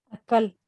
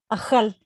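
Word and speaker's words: אכל: Angélica, ¿cómo pronunciamos el verbo él comió? Acal, Casi. ajal, No tiene dagesh. no tiene dagesh. Ajal.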